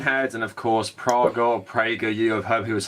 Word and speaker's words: PragerU: this video I want it's pronounced Prager you yeah like praying to God talk about T gab